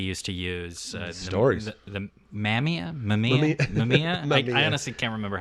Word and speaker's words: Mamiya: The Mamiya. I honestly can't remember how to pronounce Yeah, it.